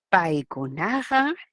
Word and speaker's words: Paikuna: En el quechua, el acento recae en la penúltima sílaba. Paikunaja, tantatam, mikuyan. Ellos pan comen. Paikuna, ajá, ahí está, la mayor fuerza de voz. Tantatam, ahí está la sílaba tónica.